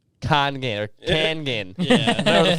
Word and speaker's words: Kangen: Yeah, it's always Coggin, but it's supposed to be like Congan. Kangen.